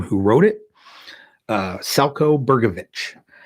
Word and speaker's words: Selco: who wrote it uh salco bergovic that's with the c not with the ch like we would pronounce it uh so he is